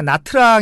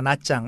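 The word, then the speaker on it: Nha Trang: 다낭 그리고 이제 그 우리가 나트랑 이라고 하는데 베트남식 발음으로 나 짱이라고 합니다 나짱 나트랑 으로 좀 요즘의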